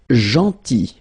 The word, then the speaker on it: gentil: Then gentil. So remember this final L is not pronounced. Gentil, gentil, and it's nice or kind.